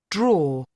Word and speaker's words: drawer: draw draw Could you give it another go?